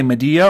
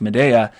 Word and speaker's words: Medea: about the midea yeah should I say Medea or Medea well either like Medea is more like the Greek pronunciation but everybody says Medea so okay I guess I way I said when I say I always say Medea so do you think